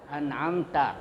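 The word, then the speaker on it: أَنْعَمْتَ: An'amta itu dibaca izhar ya, izhar. Dia harus terang bacanya, itu nunnya n ya.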